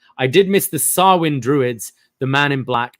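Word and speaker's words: Samhain: did miss the uh Sam ha no that's not how you pronounce sawin is the pronunciation I did miss the swin Druids the man in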